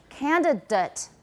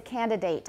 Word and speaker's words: candidate: ate as in graduate if it is a noun or adjective we pronounce it with a schwa it everybody please remember